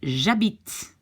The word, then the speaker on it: j'habite: I live, j'habite. And since the H in French doesn't count, well, it's again the J apostrophe habite, j'habite.